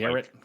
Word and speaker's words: garrote: And then the rogue, you got your quest rogue and garrote rogue, or garrot. I always say it like Garrett.